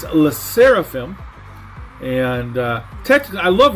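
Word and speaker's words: LE SSERAFIM: up for them Alyssa raffian that's a true pronunciation it's less seraphim and uh Texas I love Limelight but technically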